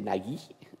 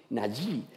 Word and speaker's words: Nagy: persona se me ha dicho que se dice Nagy, ¿no? Nagy. Sí, siempre me ha costado mucho pronunciar el nombre de nuestro amigo Laszlo.